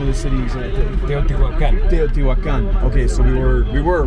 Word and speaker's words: Teotihuacan: Here in, how do you pronounce the name of the city exactly? Teotihuacan. Teotihuacan.